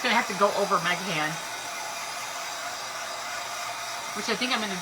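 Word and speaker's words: Meghan: The way it's spelled is M-E-G-H-A-N, so we call it Megahan.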